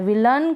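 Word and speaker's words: villain: अ बोल रहे हैं ए आई के लिए। फिर विलन में भी ऐसा है। विलन कर्टन सर्टन, माउंटेन और फाउंटेन में।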